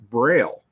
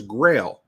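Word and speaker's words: Grayl: your water filter I kept hearing you say Braille and wondering why you were talking about accessibility stuff on your podcast close it Grail but it's spelled g r a y l and it is an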